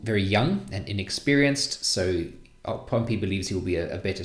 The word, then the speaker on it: Pompey: discussed enemy of rome pompey or pompeii typically gets pronounced pompey but you can choose really initially pompey is